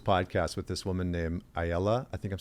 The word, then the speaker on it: Aella: So I listened to this podcast with this woman named Ayala. I think I'm saying it right. It's Aella.